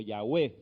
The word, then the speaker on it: Yahweh: O Yahweh también se pronuncia.